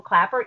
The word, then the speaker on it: Klaper: c t o r Clapper has one p with a k k l a p e r and if you want